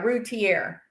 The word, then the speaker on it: Routier: Is that how you pronounce it? Routier? Yeah, Routier from Dallas.